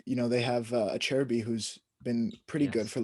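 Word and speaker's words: Acerbi: solid cherry that's how you say his name a cherry b yeah we gotta you gotta teach us more italian pronunciation is a ch and ch is a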